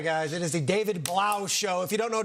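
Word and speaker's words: Blough: It is the David Blau show.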